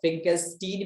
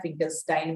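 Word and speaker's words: Finkelstein: ठीक है, इसको फिंकेलस्टीन भी कोई कहता है, फिंकेलस्टाइन भी कोई कहता है, प्रोनाउंसिएशन आपकी मर्जी।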